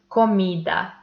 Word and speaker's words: comida: So pronounce these words by yourself and you will see that the stressed one is the syllable where we put more intensity. So once more we pronounce this word comida.